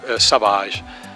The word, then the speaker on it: Savage: Savage and I uh took his name but with the French pronunciation so so Savage it is written like in English but Savage so it it was